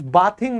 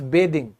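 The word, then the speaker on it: bathing: आई एनजी उसके साथ अब दोस्तों आई वाज बाथिंग नहीं इसका उच्चारण होगा आई वाज बेदिंग क्योंकि एक अलग टर्म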